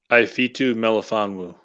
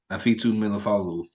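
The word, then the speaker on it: Ifeatu Melifonwu: Ifitu Melifonwu. Afitu Melifonwu, yeah, from Syracuse, and I chose Tyler Shelvin in the third round, and Trill Williams, and then you chose Cameron Temple.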